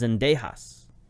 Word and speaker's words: Zendejas: It is Zendejas. There's some famous National Football League kickers with the name Zendejas. So that's how I know how to pronounce that name.